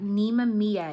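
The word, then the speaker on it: Nemamiah: You got Nemamia is how you say this.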